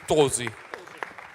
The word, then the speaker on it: Tosi: Tosi, che mi dicono sempre che io lo pronuncio male, perché vi dovrebbe dire Tosi. Tosi, esatto. Non con la O aperta, bella, Tosi.